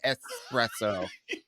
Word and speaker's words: espresso: pronouncing the word correctly instead of putting the X in there she said espresso for all you hoes